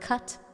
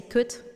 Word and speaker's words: cut: That's why I always laugh when Dutch people speak English and they mispronounce the word cut, like to cut. And they say kut, and I'm like, ha.